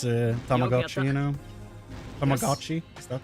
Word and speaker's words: Tamagotchi: But in reality, it's Tamagotchi, you know? Tamagotchi? Is that the name? Growing up, everybody said Tamaguchi, where I live, so the pronunciation of that word is absolutely cursed in my brain.